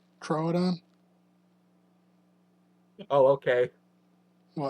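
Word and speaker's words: Troodon: Trrodon. Oh, okay. What? That was that was pronouncing it as an oo. Trudon.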